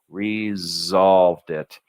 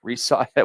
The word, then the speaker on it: resolved: resolved it all right you want a good Z sounding s and resolved hear it Z there's two s's there's s with air like a snake and there's Z and you can feel the vibration here Z and right here Z resolved it now why do they have a z sounding s try to say this with an S sounding s resolved it resol it would be hard to say right so